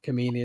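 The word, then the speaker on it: Kameni: so in goal was Carlos Kemin or Kamini as some people used to pronounce it then you had Pablo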